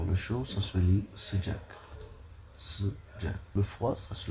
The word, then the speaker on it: sıcak: Alors, le chaud, ça se lit sıcak. Sıcak. Le froid, ça se lit soğuk. En prononce, on dit soğuk.